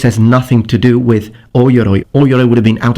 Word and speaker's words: O-Yoroi: Samurai had O-Yuroi. O-Yoroi. The O is pronounced O-Yoroi, not Yuroi.